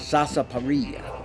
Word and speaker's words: sarsaparilla: is a root and the correct pronunciation back then and we're talking here in the 1700s with sasa parilla and they would make